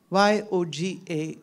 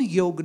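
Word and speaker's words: योग: So the one solution which I suggest is called Yoga Nidra. Y-O-G-A, yoga. In English, many people say it yoga, but in Sanskrit it's yog. Y-O-G, so A is actually not pronounced.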